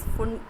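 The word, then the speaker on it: Pfund: फुंड is spelled with p but pronounced as फुंड, p is silent here.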